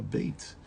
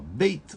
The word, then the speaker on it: Beit: Se eu falo ela pronunciar ela Beit, ou se eu pronuncio ela Beit. Em hebraico essa letrinha pode ser pronunciada também como V. Além de B, ela pode ser pronunciada como V.